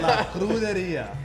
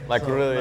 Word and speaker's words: La Cruderia: I didn't want to mispronounce it. La Cruderia. La Cruderia.